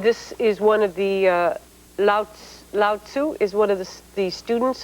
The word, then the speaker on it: Lao Tzu: Lao Tzu. Lao Tzu.